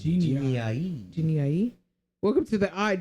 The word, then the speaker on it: Genii: But welcome to the Odd Genie podcast. Oh, Shit. it's not even genie. It's pronounced genie. Genii.